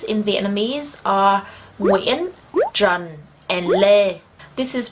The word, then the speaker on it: Nguyễn: And it is pronounced Nguyễn, not Nguyen or Nguyen, okay?